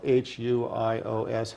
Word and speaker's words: huios: Testament most commonly that is translated to son is spelled h-u-i-o-s huios this is translated metaphorically when you see